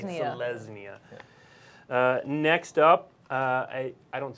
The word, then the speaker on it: Selesnya: Selesnya. You did it. Yeah. So this is like it's like a Z sound on that second S. Yeah, a little bit of a soft Z. Selesnya.